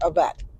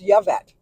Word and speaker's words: Yvette: name was Yvette although I always called her AET and she said no it's Yvette so let me know